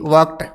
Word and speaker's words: worked: ठीक है, या अपने पास में WORKED वर्कड, वर्कड, वर्कड टै की ध्वनि आनी चाहिए, प्रोनाउंसिएशन जो है टै से होना चाहिए, वर्कड।